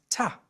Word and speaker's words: to: them pronounce to as ta. The sound you hear there is ah. We call this a schwa sound which is really important in English.